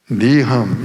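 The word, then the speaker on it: נִחַם: 거기 보면 니함, 여기 지금 우리 부목사님이 함이라고 넣으면 함. 시읒도 아니고 키역도 아닌 발음이에요. 니함. 감으로도 발음해. 니함.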